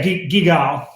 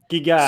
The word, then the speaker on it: Guigal: Yeah, GUIGAL. GUIGAL.